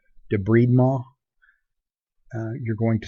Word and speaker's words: debridement: cleaning out a wound your book insists on giving it the French pronunciation debride ma you're going to sound pretty silly if you are in wound care and go around saying debride mall unless you're actually French